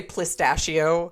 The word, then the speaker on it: pistachio: You would say pistachio. But I kept putting an L into Pistachio.